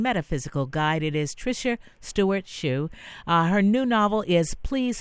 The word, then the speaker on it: Shiu: Sh I you so it is spelt it's pronounced shoe but it's shi yu t steward shoe calm